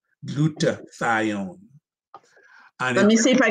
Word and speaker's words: glutathione: taking can you repeat that how do you spell that g-l-u-t-a-t-h-i-o-n-e glutathione let me see if i could put it